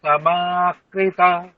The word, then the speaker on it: সমে কৃত্বা: সুখ দুঃখে সমাকৃতা। আচ্ছা, দেখুন, ভালো করে দেখুন, স্পেলিং দেখুন কি আছে। সামে একার আছে, আপনি আকার বলছেন। সুখ দুঃখে সমাকৃতা।